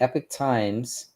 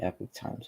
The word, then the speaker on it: Epoch Times: And so the Epic Times, spelled EPOCH, Epoch Times, but it's really Epic Times when you pronounce it.